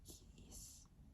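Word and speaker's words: Gijs: First at 1970 Swedish Grand Prix by Keys, or so it's spelled G-I-J-S.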